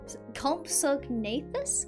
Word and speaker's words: Compsognathus: I can't pronounce it. That's why I'm calling them Compies. Compsognathus? Compsognathus? So, Compsognathus?